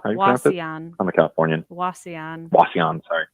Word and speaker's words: Wauseon: I booked the Magnuson there in how do you pronounce the name of that town? Wasson? Wauseon.